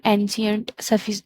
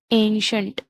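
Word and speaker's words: ancient: हम एंशियंट, डेफिशिएंट ऐसे बोलते थे, लेकिन इसका जो सही राइट प्रोनाउंसिएशन है वो है एंशियंट, डेफिशिएंट, सफिशिएंट, एफिशिएंट। तो जब शॉ का साउंड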